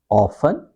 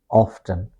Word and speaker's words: often: this is actually uh this O sound is important uh both pronunciation are correct we can say often and we can say often both are correct often. Often the difference is American use a long O sound. Okay? They say often often here it's a short O sound.